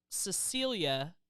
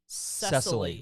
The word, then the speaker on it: Cecilia: You called Cecilia Cecily.